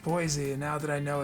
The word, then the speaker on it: Boise: that you know what's pronounced boise boise not boise oh that's too bad